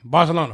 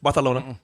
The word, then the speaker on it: Barcelona: You didn't even say it right. You got to say it Barcelona. They let me say it however I want to. You got to say it with a lisp. Barcelona.